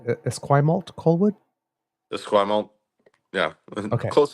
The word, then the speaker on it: Esquimalt: Now, am I pronouncing it Esquimalt Colwood?